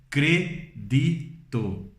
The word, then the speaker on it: crédito: Em espanhol, nós lemos credito. Crédito. Não é crédito, é credito.